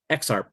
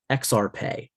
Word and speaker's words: EXARP: So some people will say exarp, and some people will say exarpe.